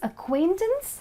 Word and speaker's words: acquaintance: Time pay attention it's acquaintance where C is silent and it's a knowledge